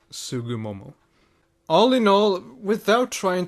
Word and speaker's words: Tsugumomo: and if you wonder I believe the correct pronunciation is something among like sugu Momo all in all without